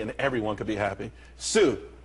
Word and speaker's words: Tsu: Tsu, TSU, it's pronounced Tsu though.